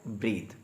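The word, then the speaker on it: breathe: जहाँ पर ई लगी होगी वो वर्ब होता है और उसकी प्रोनाउंसिएशन होती है ब्रीथ।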